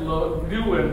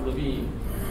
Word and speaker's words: Lewin: And it comes from Kurt, it's Red Lewin, but it's actually pronounced Levine.